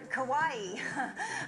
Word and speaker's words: Kauai: Kauai. The nightmare started when a massive wave hit the boat. All 3 were thrown in the water. She thought it was pronounced Cowie. No.